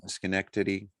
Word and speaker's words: Schenectady: i'm just below where you started yeah yes schenectady yeah there we go uh prosecutors had only